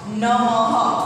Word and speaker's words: नमः: यानी कि नमः शः ब्रह्म जो ह बोलते हैं ना, ये इसका प्रोनाउंस होता है। इसका जो मैंने राउंड किया उसका ह होता है, नमः ऐसे।